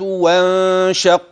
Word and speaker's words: وانشق: وانشق وانشق وانشق القمر احذر ان تاتي بالف في النطق واضحه بين الواو وبين كلمه انشق لقد تلفظت بها يا شيخ انشق ها هو الالف نعم انه الف وصل وتعلم من اقترب وانشق